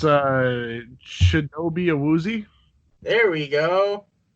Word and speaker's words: Chidobe Awuzie: I'd never pronounce his name right either. You want to say his name, somebody? It's Shinobi Awuzie. There we go. Chidobe Awuzie.